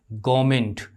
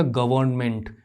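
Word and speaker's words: government: एक बड़ा वर्ड ले लेते हैं, गवर्नमेंट, हम इसको क्या बोलेंगे, गवर्नमेंट, गवर्नमेंट नहीं बोलेंगे। ये जो आर है इसके बाद कॉन्सोनेंट साउंड है, हम आर को यहाँ पर प्रोनाउंस नहीं करेंगे, तो ये हो जाएगा गवर्नमेंट।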